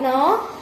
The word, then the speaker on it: know: Whose woods this are, I think I know. His house. अच्छा बेटा, आपने इसको क्या बोला? इसको बोलो दोबारा थोड़ा। नो, है ना। इस के को साइलेंट है, ये के को प्रोनाउंस नहीं करते, ओके।